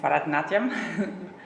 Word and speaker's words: Bharatanatyam: I was going to ask how to pronounce that. Bharatanatyam.